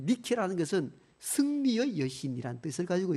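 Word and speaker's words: Nike: 거기에서 본을 받아가지고 V자 승리라는 이 니케라는 것은 승리의 여신이라는 뜻을 가지고 있거든요. 거기서 나온 이 문양 로고가 나이키 문양입니다. 그 나이키라는 것은 니케라는 여신의 영어식 발음입니다.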